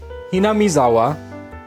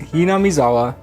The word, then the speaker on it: Hinamizawa: Krueger of cause told me what all the pronunciations are the town is ham maawa right ham maawa the main character is kichi then we have